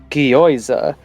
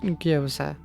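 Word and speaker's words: gyoza: Zoe goes to town on some guoza.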